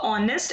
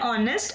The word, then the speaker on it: honest: The next example, she is a honest and hardworking woman. So H is silent here. So we will have she is an honest and hardworking woman.